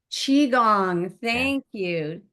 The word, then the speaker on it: Qigong: Qigong.